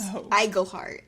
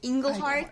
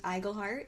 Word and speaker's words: Iglehart: uh in uh in our last episode I mispronounced The Voice actor's name it's James iglehart I said engleheart CU I always put an n in his